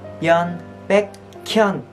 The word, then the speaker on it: Byun Baekhyun: Các bạn phải đọc là Byun Baekhyun. Các bạn phải nối chữ K lên thành là Byun Baekhyun, Kyun Baekhyun.